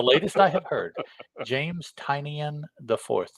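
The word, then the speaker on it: Tynion: my attention that that quite perhaps tinian is the way that he wants it pronounced and the best evidence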